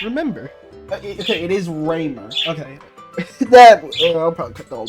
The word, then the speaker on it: Ramer: I think they said at some point how you should pronounce it in general, but I do not remember. Okay, it is Raymer.